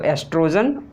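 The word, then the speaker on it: oestrogen: और ई है एस्ट्रोजन, तो एस्ट्रोजन ओ साइलेंट होता है, ठीक है। कहीं कहीं आपको ओ नहीं मिलेगा, ई क्यों मिलेगा, एस्ट्रोजन ही होता है, तभी कोई दिक्कत की बात नहीं है।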